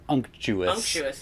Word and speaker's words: unctuous: standing joke where it's some people do pronounce it anxious and that is probably also correct but unctuous is the way that Merriam-Webster pronounces it insert Merriam-Webster pronouncer from